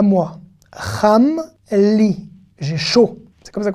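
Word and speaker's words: לי: Li. Le yud ici. Ne se prononce pas, mais il peut pas.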